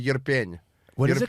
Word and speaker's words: Irpin: It's this town called Yerpen.